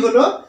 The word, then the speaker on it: hell: প্রথম শব্দটি হলো HAIL হেইল, উচ্চারণটা লক্ষ্য রাখবে, HAIL হেইল।